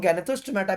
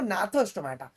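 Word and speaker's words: Gnathostomata: इनमें एक क्लास आएगा साइक्लोस्टोमेटा और नैथोस्टोमेटा जो होता है इसको लोग गैनेथोस्टोमेटा भी कहते हैं बट उसका जो प्रोनाउंसिएशन है वो नैथोस्टोमेटा ठीक है जिनके पास जॉस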